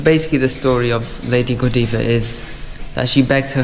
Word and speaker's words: Godiva: about and I've realized I've been saying it wrong it's Lady Godiva not Godiva it's just me me